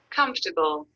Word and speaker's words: comfortable: So the last part is ta, not t. Table. Okay. Comfortable. Comfortable. Okay, very nice. That's it. Comfortable. Yes, comfortable. Comfortable. And say it like with an A sound with your mouth like this. Comfortable. So there's no O sound. Comfortable. It's very open with your mouth relaxed and open.